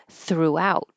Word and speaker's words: throughout: the o sound Fus throughout the stress is on the second syllable throughout and so that makes